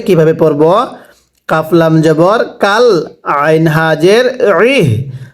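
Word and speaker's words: عين: কাফলাম জবর কাল, আইন হাজের ইহ। আইনটা উচ্চারণের সময় গলার মধ্যে একটু চাপ দিয়ে পড়তে হবে।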